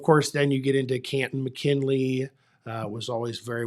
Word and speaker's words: Canton: the Pro Football there I even said it right Canton um it's 20 minutes outside of Canton Akron Canton I had to I had to learn to get rid of that a sound when I moved here I haven't I